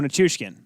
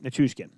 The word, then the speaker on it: Nichushkin: Oh, Nichushkin. I did spell that right. Or so this. Okay. Okay. So in the notes, I spelled it wrong the first time. Second. Nichushkin.